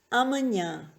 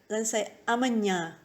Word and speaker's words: amanhã: Amanhã. Now, amanhã has the ñ sound. We get this sound in the word onion in English. Just say the word onion, and then say amanhã, amanhã.